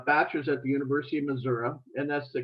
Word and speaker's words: Missouri: i got my bachelor's at the university of missouri and that's the correct pronunciation of that state and went on to